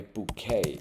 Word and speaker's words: bouquet: ，花束 bouquet 这个 t 不发音重音在尾巴，k k k k。bouquet，